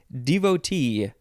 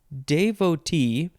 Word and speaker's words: devotee: now wait a minute you can pronounce it devotee devotee devotee so there's de de and then da devotee and then you can also pronounce the last syllable Tay devote devote davote davote